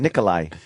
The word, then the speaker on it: Nikolaj: No, it's kind of an H-y sound. Nikolai.